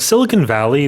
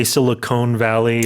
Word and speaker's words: Silicon Valley: The other thing I want to point out Silicon Valley the pronunciation a lot of people say siliconey or silicony.